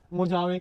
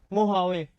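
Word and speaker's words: Mojave: ठीक है, अब बात करते हैं हम मोजावे के बारे में। किसके बारे में? मोहावे। यहाँ पे जे क्या है? साइलेंट है, तो हम क्या बोलते हैं इसको? मोहावे।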